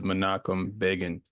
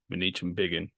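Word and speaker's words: Ban Ki-moon: bot these men's names so the name is manakum Ban not manich ban you will hear me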